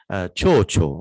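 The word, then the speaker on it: てふてふ: first line, beautifully penned, you might recognize tefu, tefu, but it's pronounced chocho, or butterfly.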